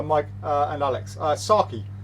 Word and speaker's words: sake: uh and alex uh saki i that's how you pronounce sake in japan are we gonna have